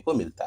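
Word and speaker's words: calm: काम, शांत हो जाओ, काम डाउन। तो यहाँ देखिए एल है वो साइलेंट हो गया, काम, एल साइलेंट हो गया।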